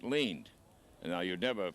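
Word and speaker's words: Lind: like last night instead it's l-i-n-d and it's pronounced leaned and now you never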